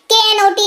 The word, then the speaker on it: knot: KNOT knot इसको पढ़ते हैं, K साइलेंट रहता है और ये गांठ को अंग्रेजी में knot कहते हैं।